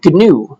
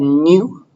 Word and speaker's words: GNU: It's called GNU, but they say with a hard G, GNU.